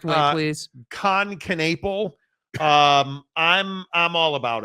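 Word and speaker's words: Knueppel: and uh yeah in please say dude's name right KH canle that's how you say his name that's how he clarified I don't know what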